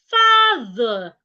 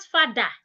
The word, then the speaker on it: father: Remember what I told you about words ending with e r and o r. The sound becomes weak. Father, not father.